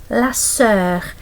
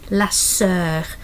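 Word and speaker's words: la sœur: Notice again the e is close to the o the o and e is like one letter. It's a French uh part of the alphabet. So it's how the sound is lasser.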